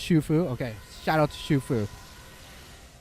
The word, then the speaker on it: Xu Fu: It's pronounced Shufu.